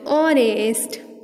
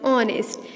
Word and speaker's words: honest: We pronounce it honest. Okay, we pronounce it honest. Here the sound of vowel is coming out, so we will write here n.